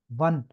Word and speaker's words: wann: ये जो WANN होता है ना, वन, क्योंकि एक लफ्ज एक जर्मन में वेन भी होता है, ठीक है, वो एक डिफरेंट चीज है, उस पर अभी ना आए, लेकिन इसलिए आपको स्पेलिंग भी आना चाहिए वन, इसको वन करना है, ठीक है, वन।